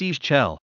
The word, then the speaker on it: Ixchel: Ixchel, pronounced Ischel, like the second half of Shish in the first half of cello.